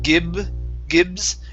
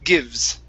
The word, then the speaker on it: gives: here uh gives so give me a good v sound here instead of gibb gibbs it's give gives gives okay good good